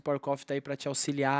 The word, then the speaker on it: PVVR Coffee: Eh, se fala Power Coffe, mas se escreve PVVR coffee, vocês vão achar assim na rede social, eh, o site, enfim.